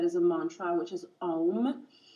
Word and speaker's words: om: a mantra which is om so o m pronounce a um um which is the most